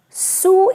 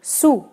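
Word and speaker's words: sous: in french also but you have to be very very careful see check clear carefully the way i'm pronouncing it okay it is see su is coming here su which we already used to say under right so when we say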